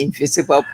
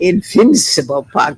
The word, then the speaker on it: Invincible Park: They always call it Invisible Park. I know. I'm a stickler for the correct pronunciation. Invincible Park. That's what you said it with emphasis, right?